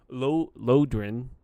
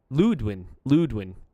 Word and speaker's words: Ludwin: Lodrin? No, it's Ludwin.